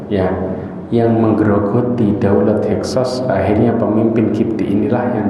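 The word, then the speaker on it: Hyksos: namanya suku he SOS tulisanya h e x o s Bacanya apa heksos ya ya mau bilang hakos bingung tapi heksos benar X ya heksos yang menguasai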